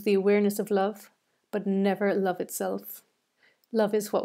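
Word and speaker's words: Niamh: a good Irish name M H is like a V in the Irish language that's why it's pronounced completely differently than the way it's built so it's Nev and chroma DiMaggio is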